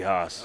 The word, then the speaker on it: Haas: The homage to Straight Cash Homie, Andy Haas. Oh, yeah. Which rhymes with Randy Moss, who coined that.